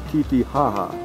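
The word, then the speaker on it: Titicaca: I was corrected. It is now, it's pronounced Titihaha.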